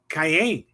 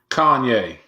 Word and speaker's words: Kanye: that was the same speech that Cayenne. How do you pronounce his name? Kanye. Kanye. Cayenne. Cayenne. Kanye. Yeah. You say Kanye, I say Cayenne.